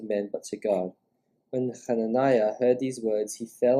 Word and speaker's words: Hananiah: I think it's pronounced Hananiah as well. Yeah, I think. Yeah, Hananiah. Yeah. So that's we know them as Ananias and Sapphira, but it's Hananiah in Hebrew.